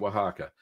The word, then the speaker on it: Oaxaca: Queso Oaxaca, that's how you say it, Oaxaca.